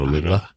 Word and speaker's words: aluminum: Anyway, so you know how in UK they call it aluminium and we call it aluminum. I love aluminium, but there's an extra I when they spell it versus us. Anyhow, that's why it makes it aluminium.